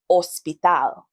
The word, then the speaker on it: hospital: H is a in English we have that sound but in Spanish it's omitted. The Spanish word for hospital is hospital.